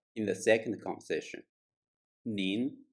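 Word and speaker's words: 您: in the second conversation nin is pronounced in the second tone the second tone sounds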